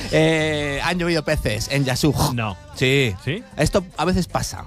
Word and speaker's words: Yasuj: en la ciudad de yasuj Ni más ni menos han llovido pronunciado así además una J Gracias J aspirada que la la próxima